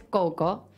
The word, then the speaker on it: Kho Kho: El deporte del que vamos a hablar hoy es Coco, que voy a decirles cómo se escribe.